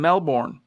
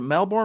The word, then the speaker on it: Melbourne: raul blitz g'day from melbourne or is it melbourne how do you say it down there is it melbourne americans say melbourne but i think they say melbourne either way just wondering